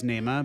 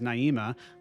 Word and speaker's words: Naima: Naima, pronounced by Coltrane himself as Naima, but often spoke as Naima, was written for his wife, and Syeeda's Song Flute, written for his stepdaughter.